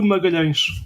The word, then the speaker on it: Magalhães: We say Fernando de Magalhães. His real name.